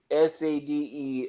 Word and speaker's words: Sade: Here's what it is you have a word SADE, but attitude changes it to Sade.